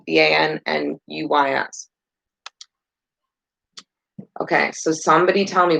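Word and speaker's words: Van Nuys: Noise, Van Noise. How do you say that? Vannuys.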